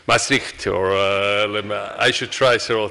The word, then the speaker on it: Maastricht: of this city, because the whole Europe says it's Maastricht, right? And it makes Dutch very nervous because it's Maastricht, or I should try several times more, but then I can make it.